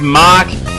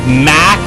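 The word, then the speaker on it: Mach: ridden in last time I tried to pronounce that word mock to tell me that I mispronounced it I said Mac back then because well that's how you pronounce it in French but I when I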